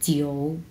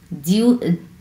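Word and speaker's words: 九: সো আমরা 3 number tone কীভাবে উচ্চারণ করবো, জিও, জিও, জিও, জিও, জিউ, জিউ, জিউ বলতে কোনো ওয়ার্ড নেই, জিউ, অনেকে জিউ জিউ বলে, হ্যাঁ, জিউ না, জিও, জিও। এইরকম উচ্চারণ করতে হবে, অ্যাকচুয়াল উচ্চারণ কিন্তু জিও।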